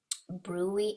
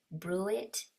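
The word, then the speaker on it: bruit: Brewy and thrill. Okay, I heard somebody pronounce it brewit or brewit, but I say brewy.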